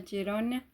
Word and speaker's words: Girona: Nació de hecho el 2 de mayo de 1978 en Girona, creo que se pronuncia Girona, y ha vivido desde entonces allí.